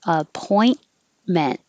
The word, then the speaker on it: appointment: uh merriam-webster says raphael appointment don't pronounce the t's at in the middle or at the end just hold it in the t position a point meant suburb is the noun